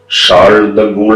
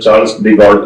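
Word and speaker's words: Charles de Gaulle: അത് French president ഡിഗോൾ, ഷാൾ ദ ഗോൾ എന്നൊക്കെയാണ് French ഉച്ചാരണം. നമുക്ക് പരിചയമുള്ളത് ചാൾസ് ഡിഗോൾ എന്നാണ്.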